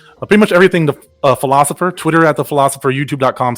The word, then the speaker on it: Philocypher: see why PhD are it looks like filo cipher but it's pronounced philosopher the big thing for